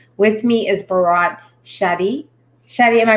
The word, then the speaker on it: Shetty: Shetty, am I pronouncing it correctly?